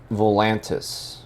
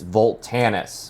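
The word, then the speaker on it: Voltanis: valve and algún Dalian volantis no cuz i spell it wrong because they say it wrong it's not volantis it's volt Tanis which I feel is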